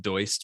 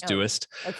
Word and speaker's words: Doist: company you set it correct is dewist often pronounced deutsch but it is duest and we're a productivity software company so we